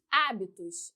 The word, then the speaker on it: hábitos: Hábitos, hábitos, ó, 1, 2, 3. Antepenúltima sílaba mais forte, sílaba tônica.